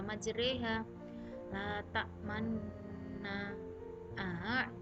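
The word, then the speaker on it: مجريها: contoh-contoh bacaan ghorib Bismillahirohmanirohim majreha walaupun ini tulisannya majroha tapi dibaca majreha Nah tak Man nah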